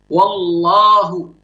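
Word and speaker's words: الله: Wallahu, lamnya di sini dia baca mufakhamah, baca tebal. Kemudian disebutkan juga di sini di ayat ittaqullaha, ya, ittaqullaha, Allah, ya, ittaqullaha, lamnya dibaca mufakhamah.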